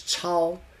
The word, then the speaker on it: 钞: Pronounced as chao, just like the sha.